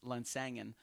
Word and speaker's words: Lansangan: A good friend of mine, Brian Lasagna, the great Lasagna actually, is Lansangan is how you pronounce his last name. But when I first saw it, it looked like lasagna, Lasagna.